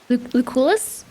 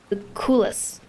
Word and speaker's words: Lucullus: Lucullus? I'm gonna make up my own name for everybody. Super sexist, yeah. C seems to be a K. Lucullus. Lucullus.